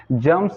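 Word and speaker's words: germs: जम्स, जम्स miss होता है कीटाणु। यहाँ जर्म्स लिखे हैं लेकिन आर साइलेंट है, जम्स पढ़ते हैं कीटाणु।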